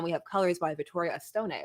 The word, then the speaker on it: Vittoria Estone: And then we have colors by Vittoria Estone or Estone, I'm not sure. Either way. But I believe it's a Stone. He is Italian, so I think you that's pronounce what I was you going pronounce for. the E.